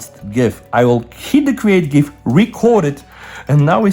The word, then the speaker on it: GIF: And remember, it's pronounced GIF and not GIF.